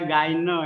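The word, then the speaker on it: Gagné: teori yaitu teori dari Robert ganyol yang bacanya gaino ya kau berjanji nah teori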